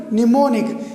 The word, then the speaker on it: mnemonic: o n i c so mnemonic mnemonic here m is silent when m comes at the initial position remember when m comes before n at the initial position then m is silent when m comes before n at the final position then n is silent this is a point remember okay i would repeat again when n when m m comes before n at initial position then m is silent is in mnemonic and when m comes